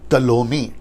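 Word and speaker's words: Ptolemy: उसके जो 4 जनरल हैं वो है सिलेकस, फिर उसके बाद में है लियासेमेकस, फिर उसके बाद में कैसेंडर और टलोमी। प्रोनाउंसिएशन ठीक से देना, टॉलमी, ठीक है ना।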